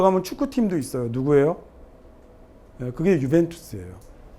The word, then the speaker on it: 유벤투스: 그게 유벤투스예요. 발음이 UJ라고 썼는데 U라고 읽는 거잖아요.